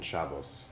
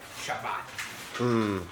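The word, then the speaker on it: Shabbos: Explain to me the difference between Shabbat and Shabos. Oh, it remember how I was explaining to you how like Ash and Spartic pronounce different things. Sure. It's just a different pronunciation.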